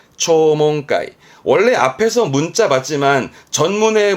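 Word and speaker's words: 聴聞会: 대부분은 다 붕 간다라는 게 조심할 사항이 되겠습니다.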